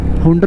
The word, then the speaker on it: Hunder: Hunder बोलते हैं कई लोग Huner बोलते हैं।